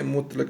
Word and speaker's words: مطلق: رہے ہیں، دیکھیں کیسے۔ مطلق، میم پیش تو یہ مت، یہ جزم